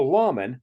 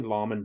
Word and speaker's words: lamen: Well, a lamen, not to be confused with nor pronounced like layman in the Book of Mormon, is a sacred image